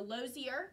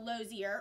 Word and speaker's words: Lozier: of her in her, I think it's pronounced a Lozier, mm-hmm. touring car. It's a 1912 Lozier, or 1910 Lozier.